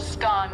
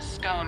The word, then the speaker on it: scone: Both scone rhyming with gone and scone rhyming with bone are accepted pronunciations, though regional variations exist.